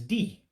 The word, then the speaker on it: di: It's spelled D-I, but it's pronounced D for husband.